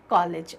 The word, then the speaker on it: कॉलेज: एक चीज यहाँ पर देखें, जो क के ऊपर चिन्ह लगा हुआ है ये अगत ध्वनि होती है। इसका उच्चारण हम अ की तरह करते हैं, ना तो ये ओ होता ना आ होता। तो ना कॉलेज और ना कॉलेज, क्या कहेंगे? कॉलेज। अ का उच्चारण होगा।